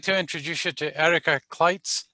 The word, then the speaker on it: Erica Clites: I'd like to introduce you to Erica Clites. Is that how to pronounce it, Erica? Yep, exactly. I wasn't sure.